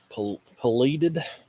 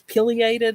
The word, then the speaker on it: pileated: Pleated woodpecker. Yeah, it's not how you say it, but No. that's it. Yeah, we have those here, but Pleated, just a pleated woodpecker. It's pileated or something like that.